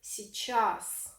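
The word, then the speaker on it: сейчас: to remember the word si chasse we spell it c chasse which actually means the etymology of this word is like this our but we pronounce it si chass which means now write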